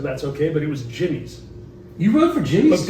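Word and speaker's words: Jimmy'Z: okay, but it was Jimmy's. You rode for Jimmy's? But people called it Jimmy Z. Yeah. But it was actually pronounced Jimmy's.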